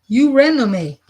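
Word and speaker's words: Eurynome: Uranome, ecstasy. Ooh. Did I pronounce that right? Probably just skipped a page. So it's pronounced Uranome.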